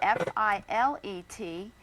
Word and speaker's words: filet: If you're speaking about meat cookery, the French word F-I-L-E-T, it's pronounced filet, and that's the proper way to talk about a fillet of beef.